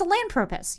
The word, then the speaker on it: Sahelanthropus: Yeah, it's it's Sahelanthropus. You're right. It's the Sahelanthropus because that's how they say it.